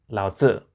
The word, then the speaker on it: Laozi: However, it's always been pronounced Laozi. The pinyin Z is shorthand for a TZ sound, and the I signifies a short IH sound.